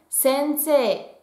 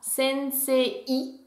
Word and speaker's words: sensei: Quand on a un E suivi d'un I, ça se prononce bien E et non pas EI. Je vous donne deux mots qui sont relativement connus en japonais avec un allongement. Tout d'abord, nous avons sensei qui veut dire professeur. Sensei. On est censé le prononcer comme ça et non pas sensei. Donc sensei.